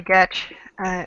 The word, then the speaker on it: Getch: My name is Getch, rhymes with sketch, and my business is